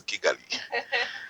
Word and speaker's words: Kigali: I am told that you guys pronounce it as Chigali. Kigali, yes. Yes, but Yes. where I come from is Kigali.